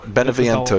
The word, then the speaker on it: Beneviento: Beneviento, yeah. Yeah. Oh, I just called it House Danny DeVito because I could not pronounce any of the names in this game.